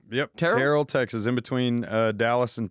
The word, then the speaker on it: Terrell: Is that how you pronounce Terrell? Yep. Terrell, Texas, in between Dallas and Tyler.